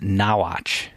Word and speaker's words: Norwich: She said it's actually pronounced Nawatch.